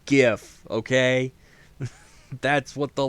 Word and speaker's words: GIF: is like no it's jif no it's gif okay that's what the letters are for graphic is the first word so it's a hard g all right anyone who